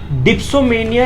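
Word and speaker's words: dipsomania: डिप्सोमेनिया इसकी right pronunciation होती है, जो कि पूरा निकल के आता है कि शराब की लत, राइट।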